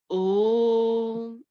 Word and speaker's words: Om: So Om, Om, Om. The pronunciation Om.